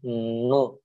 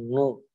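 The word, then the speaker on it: نون: ya jadi ketika pelafalannya jangan lupa mungu Bukan tapi nu dari sini Yanu begitu ya NU bukan mu tapi nu seperti itu itu huruf nun kita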